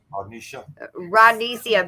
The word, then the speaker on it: Rodnesia: And how do you pronounce the name so I don't massacre it again? Rodnesia, but she goes by Nisi.